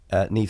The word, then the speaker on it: Niamh: It's the Gaelic sort of pronunciation, but NIAMH is how the name is actually spelled.